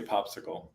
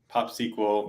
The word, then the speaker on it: PopSQL: you say popsql yeah internally we we say popsicle but okay popsql makes sense popsql people you know how